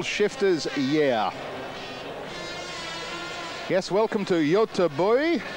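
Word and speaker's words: Göteborg: year yes welcome to Yota boy that's my attempt at a Swedish pronunciation of Gothenburg I apologize to Scandinavia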